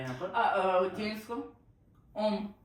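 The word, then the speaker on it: homme: इसको ओम ओम और जबकि स्पेलिंग क्या है?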